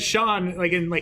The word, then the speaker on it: Sean: but in fairness, Mike- though, I almost said Sean, Sean. Like I almost pronounced the H. That's not there.